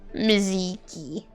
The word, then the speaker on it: Mizuki: Mizuki is Mizuki. Oh my gosh. Mizuki. I guess the U is silent, but still.